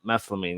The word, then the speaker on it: methylamine: that thing they needed what how do you pronounce it methine methylamine yes don't worry they've only been doing it